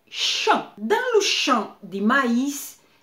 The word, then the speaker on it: champ: Uma palavra francesa que tem a mesma pronunciação, mais sentido diferente, por exemplo, é champ.